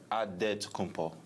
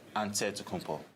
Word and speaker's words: Antetokounmpo: In the Greek way, you gotta say with a D, so it's Antetokounmpo. But in the Greek way, you say with the NT, like Antetokounmpo.